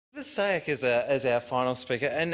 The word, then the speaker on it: Saewyc: Elizabeth Saewyc is our final speaker, and it's a pleasure to introduce Elizabeth because I can pronounce her last name, Saewyc.